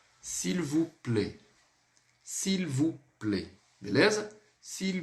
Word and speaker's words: s'il vous plaît: Esse S apóstrofo, muitas vezes o aluno ele quer falar o som do S primeiro, sem ligar com a próxima palavra e coisa e tal.